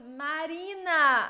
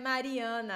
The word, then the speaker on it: Marina: I pronounce your name wrong? I'm so sorry. It's not. Oh, it's Marina. I'm sorry. I read Mariana.